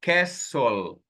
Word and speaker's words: castle: Não posso pronunciar o T de tatu em nenhuma dessas palavras aqui, ó. Eu falo castle fen listen.